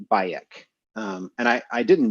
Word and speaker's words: Bayek: asked like well okay why the vocalization baek where did you come up with that pronunciation because we don't actually know what the middle egyptian would have sounded like they said well uh we named him bayek because we didn't want to call him bike because that sounded too